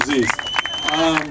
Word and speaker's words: Zeus: Zeus rhymes with peace. For those who don't know, I'm Zeus.